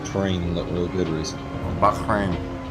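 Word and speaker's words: Bahrain: train real good RAC Bain I've been putting an A in there it's it's Bakin there's no there's no other a in Bak b a h h r a i n i noticed that last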